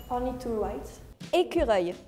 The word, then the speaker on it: écureuil: Écureuil. How do you pronounce it?